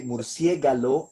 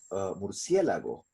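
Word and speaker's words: murciélago: so example misuk an example when we say cell arrow and not cerebro yeah when we say Mercier gallo and not Murcielago when we say for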